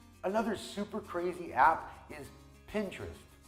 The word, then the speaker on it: Pinterest: Another super crazy app is Pinterest. Pinterest is the word pin and the word interest. They put it together to form Pinterest.